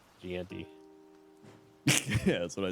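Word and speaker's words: Jeanty: It's pronounced Genty. Ashton Genty. Ganti.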